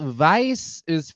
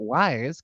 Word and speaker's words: Weisz: is Rachel Weisz's 52nd birthday. Rachel Weisz, we know her, we love her. Rachel Weisz. Not to be confused with Rachel Wise, because that's not how you pronounce her last name.